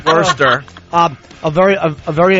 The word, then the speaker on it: Worcester: uh Greg ganir Bangladesh Worster as in like worst no no I think that was Worcester Mass oh Worster M they called it Worster Worster um a very a